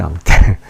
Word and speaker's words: hante: hante라는 말, 앙떼지, 앙떼. 아시 발음이 없죠.